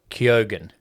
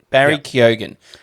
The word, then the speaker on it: Keoghan: Okay, in a Q&A with Geek Island, the actor explained that his surname is pronounced Keoghan. Barry Keoghan. Like Kogan, Oscar the brand nominee of TV.